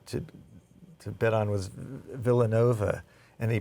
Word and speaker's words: Villanova: to bet on was Villanova and he but he pronounced as vova like valet God I mean did